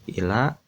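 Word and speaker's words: إلى: Ila itu lamnya agak panjang, ya. Ila dibacanya ila gitu.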